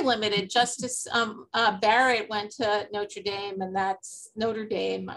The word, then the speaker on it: Notre Dame: Justice Barrett went to Notre Dame, which I keep mispronouncing in the French way.